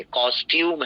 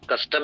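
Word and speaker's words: costume: और इस वर्ड को सही से प्रोनाउंस करेंगे कॉस्ट्यूम है ये वर्ड कस्टम नहीं है कॉस्ट्यूम इशू ठीक है पोशाक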